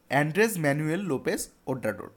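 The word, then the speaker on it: Andrés Manuel López Obrador: তো এটার উচ্চারণ হবে অ্যান্ড্রেস ম্যানুয়েল লোপেস ওব্রাডোর, অ্যান্ড্রেস ম্যানুয়েল লোপেস ওব্রাডোর।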